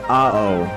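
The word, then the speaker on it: 青: Blue is pronounced as AO or AOE.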